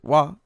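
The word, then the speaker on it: は: what's going on there the hirana wa therefore has two pronunciations wa in the topic position and ha in most other positions okay I don't think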